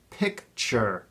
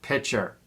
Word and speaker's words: picture: It's pronounced picture, not pitcher.